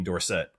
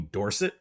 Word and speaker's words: Dorsett: And then the third is Tony Dorset. It's actually Tony Dorset. Uh, I don't know where that was changed. I think it was actually for the marketing campaign for the Heisman the same way that